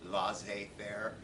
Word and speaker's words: laissez-faire: So pay careful attention to things like consensual, pluralistic, and protective and laissez-faire. That's how you pronounce that funny French word, laissez-faire.